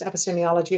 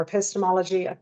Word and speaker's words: epistemology: So this can be pronounced epistemology or epistemology. I'm Irish, in case you didn't guess by my accent. In Australia, it's typically pronounced epistemology.